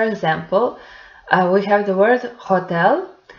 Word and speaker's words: hotel: So, for example, we have the word hotel, which has the letter H written in it, but it's not pronounced in Spanish. So in Spanish, we pronounce it hotel.